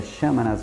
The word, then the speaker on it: Xamanas: Então esse Xamanas Bar, a pronúncia é Xamanas Bar, anexo a ele tem uma pista de patinação.